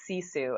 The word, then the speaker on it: Sisu: he says right and and how do you pronounce it you got it right it's Sisu and it's a Finnish word it's a Finnish